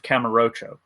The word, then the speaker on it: Kamurocho: I didn't play Endless Zone, but I did play Streets of Camarocho. Camarocho? I think I pronounced that right. Kamurocho.